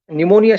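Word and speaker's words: pneumonia: जैसे साइकोलॉजी शब्द का या फिर निमोनिया शब्द का उच्चारण हम जब करते हैं तो पी साइलेंट है ऐसा कहा जाता है।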